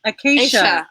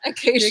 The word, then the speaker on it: Acacia: It's called the Kaya Mansion. Acacia. I never say it right. Sorry. I never. It's like the tree. How many years? Like it's been 8 years. Yeah. Acacia.